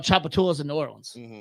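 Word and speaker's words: Tchoupitoulas: So there's a street called Chapatulus in New Orleans. I'm Listen, there's a street called Chapatulas in New Orleans. It's spelled TCH.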